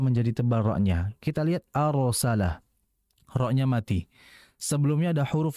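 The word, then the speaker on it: أرسل: Sehingga jangan kita bacanya wa arsala, arsala. Kalau arsala itu salah karena tipis. Harusnya dibaca tebal. Wa arsala, arsala. Hati-hati, arsala. Perhatikan getaran ra-nya dengan ketebalannya. Jadi fokus bagian lidah depan dengan belakang.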